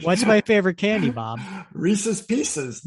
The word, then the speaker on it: Reese's: rxes Reese's not Reese's a good pneumonic is to remember that it rhymes with pieces because you know Reese's Pieces not Reese's pces rhymes with pieces not